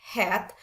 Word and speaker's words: head: Kayak tadi di kata head bukan head, tapi bacanya head. Atau di huruf yang ketemu antara A dan Y pada kata says.